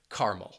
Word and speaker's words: caramel: in North America, is making it a two-syllable word and dropping caramel. That second syllable and omitting that schwa sound. And people would just say caramel.